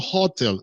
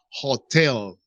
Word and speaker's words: hotel: one is hotel guys pay attention to the pronunciation it's not hotel it's hotel hotel what does mean hotel